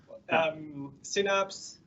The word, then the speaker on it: Synapse: Synapse. Yeah. Okay. Yeah. At least that's how they pronounce it. Synapse.